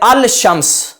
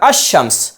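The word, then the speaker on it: الشمس: यूं समझिए आप कि अगर कोई इसको पढ़ता है अल शम्स तो यह दुरुस्त नहीं है अहले अरब के तरीके के मुताबिक यह गलत है अल शम्स पढ़ना इसको पढ़ा जाएगा अमस यानी यहां पर लाम साकिन हो जाएगा और इदघम करके पढ़ेंगे अमस हमजा को शीन के साथ मिलाएंगे और पढ़ेंगे अम तो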